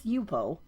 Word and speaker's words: Yupo: the yep I I've heard people call it yepo it's yupo um and the reason I know that is